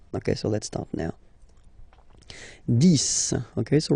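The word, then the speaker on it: dix: 10. Okay, so remember, final X here is pronounced like S.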